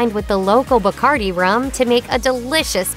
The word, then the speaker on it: Bacardi: If song lyrics are to be believed, Bacardi is one of the favorite liquors of the wild world of music, and only partially because it rhymes with party.